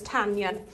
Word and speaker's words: Tanyan: And I'm actually saying it correct, so it's Tanyan.